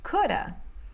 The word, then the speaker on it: could have: que vocês estão ouvindo, porque muitas vezes você não vai ouvir should have, could have, would have. Fica mais should have ou shoulda, could have ou coulda, or would have, woulda, ok?